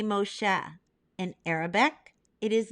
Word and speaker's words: Moshe: drawn from the water in Hebrew we say Moshe an Arabic it is Musa and in English we pronounce it as Moses Miriam the older sister